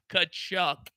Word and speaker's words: Tkachuk: Somewhere Soupy is still pronouncing in the mirror that name and trying to get it right. Kachuk, Soupy. Kachuk is how it's done.